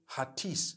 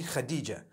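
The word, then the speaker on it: Hatice: people spell it h-a-t-i-c-e i would say hatis for that no it's actually khadijah in turkish that's the way they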